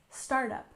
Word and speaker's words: startup: and again we have startup with stress on the first syllable startup startup for example the startup